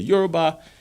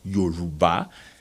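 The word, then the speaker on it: Yoruba: Nigeria which is the eura uh which is pro properly pronounced as Yuba the EO language and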